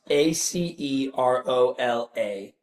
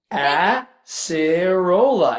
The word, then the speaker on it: acerola: uh ask hey Siri how how do you pronounce a c e r o l a acerola acerola wow Acera I love how she did